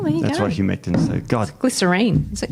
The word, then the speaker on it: humectant: How do you pronounce it? Humescent. Oh. Humectant. Oh, there's a T in there.